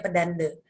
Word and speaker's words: pedanda: enggak bukan pembangunanya pedanda penulisannya pedanda tapi dibacanya Pedande kalau cowok di pura-pura